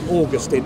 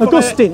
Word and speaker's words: Augustine: augustine right right then please please americans say augustine yeah i know we want to disgust him no no we don't because saint augustine is a town in florida he's saying augustine is my understanding right